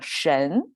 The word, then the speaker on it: 神: related to prayer and the right part is pronunciation it's pronounced by itself by by itself mean pronounced as a shin and now together with this praying concept together they become shen okay so all together